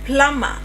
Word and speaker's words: plumber: Now, rule three, silent b in some common words must be memorized. Like it's just This is just a random one. For example, we have plumber.